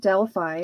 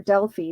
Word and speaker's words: Delphi: was the Oracle at Delphi or Delphi depending on how you pronounce it um and uh they